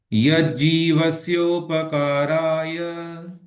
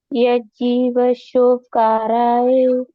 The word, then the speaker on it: यज्जीवस्योपकाराय: यज्जीवशोकाराय पुनः, यज्जीवस्योपकाराय। यज्जीवशोकाराय आप ना प को आधा पढ़ रहे हैं। आप पढ़ रहे हैं यज्जीवस्योपकाराय, इसमें प साइलेंट हो जाता है। प में अ की ध्वनि आनी चाहिए।